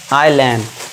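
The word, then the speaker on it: island: यदि आई के बाद एस हो तो वहां पे एस हमारा साइलेंट होगा। आई के बाद एस आ गया तो उसे क्या पढ़ेंगे हम? आइलैंड। ठीक है? यहां पे एस साइलेंट है।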